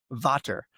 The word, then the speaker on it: VVater: But with water, which is actually spelled as two capital V's. In many parts of the world, it's pronounced Vater.